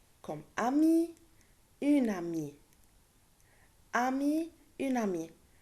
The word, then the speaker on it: amie: Ami, une amie. Je ne le prononce pas le E, mais j'écris E à la fin.